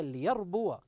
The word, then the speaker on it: ليربو: وما اتيتم من ربى ليربو ما الخطا الذي يقع من البعض حينما يقرا هذه الكلمه نجد انه لا ياتي بحركه الواو الواو الواو ليربو البعض قد يسكن هذه الواو فنقول انتبه هذه الواو مفتوحه